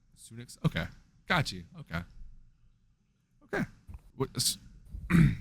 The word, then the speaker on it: Sunix: So, if you take the literal like pronunciation of it, it's just Sunnix. Sunnix.